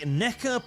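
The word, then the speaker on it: Nekker: the correct Choice also careful with the NECA pronunciation NECA NECA NECA NECA beggar NECA that's not that bad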